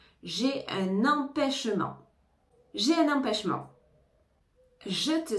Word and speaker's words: empêchement: j'ai un empêchement hein on ne prononce pas le T à la fin j'ai un empêchement j'ai un empêchement je